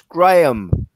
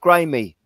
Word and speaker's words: Graham: to pronounce his name it's graham and not grimy why do you